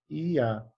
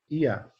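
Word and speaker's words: יה: dessas 2 primeiras letras, que seria IA, IA. Tá? Tem um azinho aqui no meio. como eu falei, o hebraico não tem vogal, né? Só tem um som vocálico. Até por isso a gente perdeu a pronúncia de várias palavras com o tempo. Mas a gente sabe que o som vocálico dessa palavra aqui, né, é IA. A gente tem a pronúncia IA.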